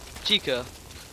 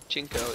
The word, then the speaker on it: Chico: saving Chinko as I say his name right chica I keep saying his name wrong instead Chinko it sounds wrong or bad okay so it's